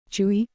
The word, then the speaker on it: Chui: Chui, pronounced like qui, with a forceful exhale, which is associated with the kidneys.